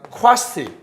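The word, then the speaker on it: quasi: 쿼시 또는 쾌자일이라고 읽는데 쿼시 무슨 상태?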